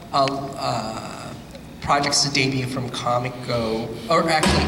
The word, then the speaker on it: Comico: last uh uh uh projects to debut from Comico or actually it's not Comico I remember Jerry jinko uh correcting me he would keep saying it's pronounced kamiko regardless of how it's spelled um and uh